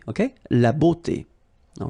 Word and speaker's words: beauté: But then it will give you the sound o, beauté, okay? La beauté.